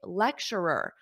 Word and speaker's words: lecturer: you can also say lecturer a lecturer perhaps a difficult pronunciation repeat after me lecturer because you have Ur at the end lecture and then you add another R lecturer repeat after me